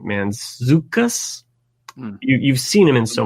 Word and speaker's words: Mantzoukas: Kline is another actress Jason meant he pronounced his name Mantzoukas you've seen him in